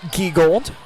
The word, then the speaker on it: Gwegold: Pronounce it Gwegold, just so you know.